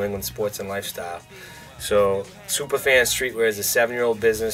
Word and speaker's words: Supah Fans: brand in boston called superfan streetwear superfans is misspelled with a boston accent so no r it's s-u-p-a-h-f-a-n-s it identifies our customer tells you